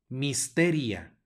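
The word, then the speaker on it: mysteria: se pronuncia ec luego tenemos una y que va a sonar como I misteria misteria luego tenemos una doble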